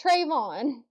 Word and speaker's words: Trevon: Trevon Diggs his name wrong. Trevon? It's Trevon.